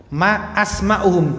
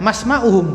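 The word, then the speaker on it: ما أسماؤهم: Tapi kalau sudah jadi jamak asmaun itu hamzahnya hamzah qat'i. Hamzahnya qat'i. Jadi harus dibaca ma asma'uhum, jangan masma'uhum, bukan.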